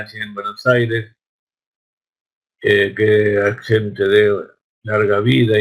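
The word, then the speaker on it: השם: produce un error porque la gente ve la palabra Hashem y entonces la pronuncian Hashem. No hay que pronunciar Hashem. La Hey es muda, es preferible no pronunciarla que pronunciarla muy fuerte y parezca una J.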